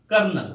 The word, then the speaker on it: colonel: कर्नल, अब कर्नल का spelling क्या होता है?